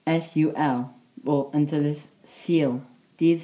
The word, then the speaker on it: Sul: Sunday is spelled S-U-L, or until this seal, dydd Sul.